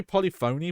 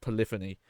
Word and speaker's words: Polyphony: I always say Polyphony, but that That's pronounced Polyphony. But the Gran Turismo developers